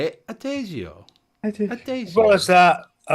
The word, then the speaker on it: Adagio: Adagio.